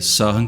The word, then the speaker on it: Søren: I mean -- In Brazil, we say it like that, but that's certainly the wrong pronunciation. Indeed, a closer pronunciation would be Sir-hen Keir-keh-goal.